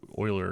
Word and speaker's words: Euler: It's been a while since I've had to mess with primes, since I did a Project Euler a couple years ago.